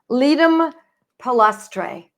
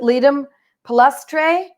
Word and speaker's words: Ledum palustre: I'm on page 83, and I'm reading Ledum palustre. So it's Ledum. I make it a long E. I'm pretty sure it's a long E. These are Latin words, and I do have